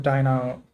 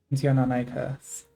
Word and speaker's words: Deinonychus: I'm gonna pronounce it Dianoni. It's funnier. Yes, you may not have heard of Deinonychus. Deinonychus.